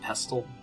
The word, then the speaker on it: pestle: the mortal and pestle I've always used a silent T unpeel maybe it's mortal and pestle that's good it just